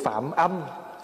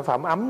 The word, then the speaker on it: Phạm âm: về sau được tướng Phạm âm phạm âm chứ không phải phạm ấm nha đó Thí dụ chữ gì mà nếu mà người không biết thì cứ đọc là Phạm ấm còn mình biết thì mình đọc là phạm âm bởi vì âm đây là gì là âm thanh còn Tội phạm là